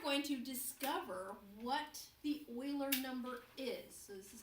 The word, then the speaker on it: Euler: you to get his name in your head Euler it's pronounced like oh I le AR but has